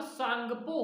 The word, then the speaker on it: Tsangpo: English में TSANGPO। अब टी यहां पे साइलेंट होता है इंग्लिश वालों में, तो सांगपो कहा जाता है।